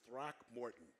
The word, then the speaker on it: Throckmorton: then uh Calvin but his last name is is throck Morton Morton it's Throckmorton because it's spelled Roc yeah I want to